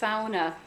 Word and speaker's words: sauna: here living in rockwood but that this is pronounced sauna and the a you that diphthong actually in